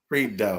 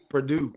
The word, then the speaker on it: Prideaux: EAU is O in French. O. And the X in French is silent because it pluralizes the word.